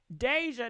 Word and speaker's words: Deyjah: guys did you guys hear this as well Deja that's how you say her name Deja Deja